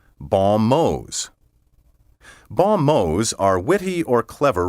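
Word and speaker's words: bons mots: m-o-t the plural spelled b-o-n-s space m-o-t-s is pronounced balmose baumos are witty or clever remarks a law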